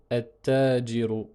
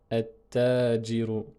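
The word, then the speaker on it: التاجر: Avec l'article, on va prononcer at-tajiru, at-tajiru. Et le détail de la prononciation est comme ceci. Donc on supprime le lam et on dédouble le ta, tout simplement.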